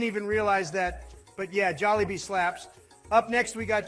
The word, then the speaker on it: Jollibee: I am putting Bojangles up in a tier alongside Jolab and Zachby's. I know the people will love this decision. First of all, it's pronounced Jollibee.